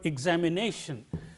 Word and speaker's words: examination: at the word examination if you see that there are five syllables in this word e-z me nay and then she'll if you look up the dictionary it marks the primary accent of the stress mark here on this syllable because this is the